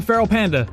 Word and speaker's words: FERALxPANDA: Hey, I'm FERALxPANDA. The X is silent.